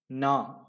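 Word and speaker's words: நான்: And the fourth word is na, meaning I. Again, it is N is silent there because it comes at the end.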